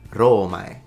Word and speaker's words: Romae: weird that they didn't they turned it into romae instead it's romai so the o should